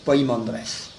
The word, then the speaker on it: Poimandres: D r e s quelquefois on met P e mais enfin c'est plus facile de le prononcer avec poi P i m a n D r e s poimandress parce que je crois